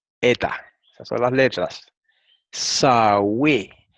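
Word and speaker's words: Σαυη: Sawe. Y se pronuncia así, como está escrito aquí en español. Sawe.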